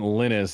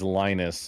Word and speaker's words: Linus: Yeah, his name isn't Linus. It's Lionus. Okay.